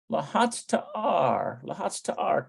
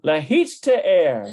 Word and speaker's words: להצטער: Lahatz ta'ar, to be sorry. Lahatz ta'ar. That's not quite right. Lahatz ta'er. No, that's not it. I must not be pronouncing it quite right. להצטער. Lahitzte'er. להצטער. Okay, lahitzte'er.